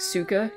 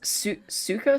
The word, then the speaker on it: Suika: I love a good, and I'm certain I say this incorrectly, but I love a good, like, Suka game. Yeah, the fruit game. It's Suika, sweet Japanese word of